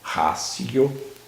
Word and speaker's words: ratio: A gente escreve ratio, mas em latim esse TI se pronuncia como um C, ratio.